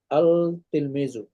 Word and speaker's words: التلميذ: তিলমিজুন মানে একজন ছাত্র আর ছাত্রটি আল তিলমিজু এখানে লামটা উচ্চারণ হবে আর তিলমিজু তিলমিজু التلميذ